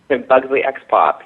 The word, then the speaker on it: Buggsly X Pop: Now, you also have something called Buggsly times Pop. Am I saying it right? Buggsly X Pop, yeah.